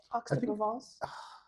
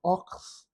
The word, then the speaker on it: Aix-en-Provence: to the city of how do you say Ox he corrected me it's oxos it is a little